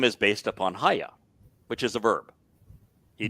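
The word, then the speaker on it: היה: And so you can look up Haya and you say, all right, Haya has the Yod, the Hey, and Hey, a Yod, and a Hey. Yeah. And it's pronounced Haya.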